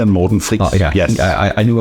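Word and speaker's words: Morten Friis: The two guys who are behind Safri Duo are, and I hope I pronounce this right, Uffe Safri and Morten Fries. Yes, so it's Uffe Safri and Morten Fries.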